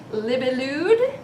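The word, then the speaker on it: Libellud: It's made by the company Libelude.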